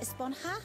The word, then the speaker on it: esponja: huh actually it's pronounced esponja with an H sound bonjour yes I know